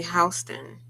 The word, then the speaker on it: Houston: Because in New York, when you're in the Village in Soho, and you're on Houston, it's spelled just like Houston. It's literally Houston. But when you see Whitney Houston, it's Houston, not Whitney Houston.